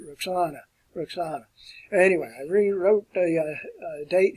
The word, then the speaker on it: Roxana: Alexander did take a wife, and her name was Roxanne. That's the way we would pronounce it here. I think they pronounce it Roxana.